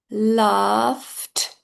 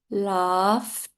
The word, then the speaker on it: laughed: Laughed. I know some people struggle with that pronunciation, so I'll repeat that. Laughed.